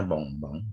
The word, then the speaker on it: bonbon: Nah, contohnya ini ya, contohnya adalah ini bacanya bonbon ya. Bonbon. Bonbon itu adalah bahasa Prancisnya permen ya. Sebentar. Ada yang baru masuk. Nah, bahasa Prancisnya permen itu bonbon ya, cara bacanya bonbon ya. Bukan bonbon ya, bonbon.